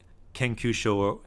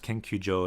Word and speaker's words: 研究所: Kenkyusho can be pronounced Kenkyujo as well.